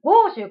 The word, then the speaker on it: 國術: 、まあ、豪州、国術と書いて豪州と読むんですけ